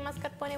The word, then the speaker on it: mascarpone: how do you say mascarpone okay which is the same just with the e at the end you pronounce that so it ends like